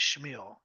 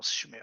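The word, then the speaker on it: Chmil: Tell me if I'm saying your last name wrong. Also, I'm just curious. Shal. It's C HM I L. Shil. I think that's what I think that's it. Camille. See? Knew I was messing it up.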